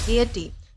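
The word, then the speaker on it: gaiety: तो दोस्तों आज का हमारा सबसे पहला वर्ड आता है गियटी। दोस्तों इस वर्ड को गेट प्रोनाउंस किया जाता है जिसका मतलब होता है खुशी, उल्लास, हर्ष या फिर आनंद।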